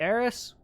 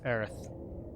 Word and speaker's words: Aerith: have fun flower shop can we meet aeris i know it's aerith i know it's earth but i like goating it square enix's mispronunciation there flower shop celebrating 70